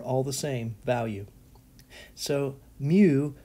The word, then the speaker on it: mu: would be that so this symbol is the greek letter mu and the phonetics is mu this is the greek